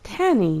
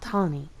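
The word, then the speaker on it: Tani: And it seems I've been pronouncing her name incorrectly this whole time, so it's Tanny, not Tawny.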